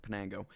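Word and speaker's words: Piñango: And those 3 guys are Charles McAdoo, Sean Keys, and then Johandrick Pianco. Or Pinaco. Pinenko. Oh my goodness. I've said it wrong every single time. Johandrick Penango, that's it, Penango.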